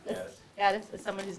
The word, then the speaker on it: Gaddis: Gaddis. Gaddis, as someone whose name is always mispronounced.